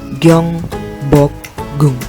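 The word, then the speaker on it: 경복궁: Sementara yang warna hijau, gioknya itu di awal, yang warna kuning juga, maka berbunyinya seperti huruf G, maka dibaca Gyeongbokgung.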